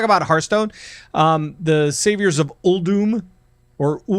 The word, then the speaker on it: Uldum: Hearthstone, the Saviors of Uldum, or how are we pronouncing that? It's Uldum, and I thought it was Uldum my whole life. I thought it was Uldum too. So did I, but it's not.